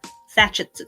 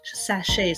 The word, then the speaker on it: sachet: I can't say it saet I'm not that's not the right way to say it but Sach is there we go scent sachet that is a tongue